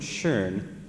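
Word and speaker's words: schön: I were to say the German word shern and ask you to spell that you might spell s c h e r n because you heard the vowel R coincident that means beautiful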